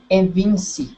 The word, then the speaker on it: evince: In the next line, the last word, evince. Ah, Community as to evince. Evince. evis, yes. In the community as to events. Evince. I pronounce evince. Yes, events. Uh-huh. Okay. Kind of like convince.